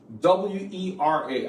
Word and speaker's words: Wera: It's spelled W-E-R-A. I have not paid for this. I bought this stuff with my own money. I think it's pronounced Wera, but it's spelled W-E-R-A.